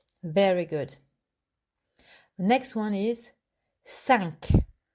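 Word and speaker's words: cinq: good next one is sank again it's with your nose thunk sunk i want to have a cure at the end too sunk we have cat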